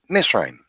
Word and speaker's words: Mizraim: Masaru mystery Missourians like this and named after Miss Raine so to this very day we find and